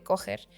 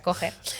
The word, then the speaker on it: Kocher: Entonces es un punto que se llama punto de Kocher o Kocher, se escribe como Kocher. Porque escucha menos feo. Pero en alemán sí se pronuncia Kocher.